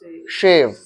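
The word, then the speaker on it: shave: pronounce करेंगे सेव और इसको प्रोनाउंस करेंगे शेव, तलाबेश प्रोनाउंस करेंगे इसको,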